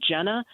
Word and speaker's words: Gina: Jenna comes out, it's spelled like Gina.